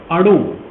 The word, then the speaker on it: अणु: तो जब उसका मैंने कहा, हाय अनु, हाउ यू are? Swami ji मेरा नाम अनु नहीं है, फिर क्या है? अणु।